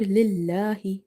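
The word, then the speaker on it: لله: So in the word lillahi, this letter lam in the word Allah is light. There is a fatha or dhamma before it, it's heavy, but here we have kasra, so we have to read it light.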